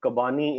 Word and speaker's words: Kabani: So, Anam, first of all, Kabani is the right pronunciation.